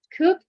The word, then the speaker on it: could: at the end of the of the model could should okay could you please give me a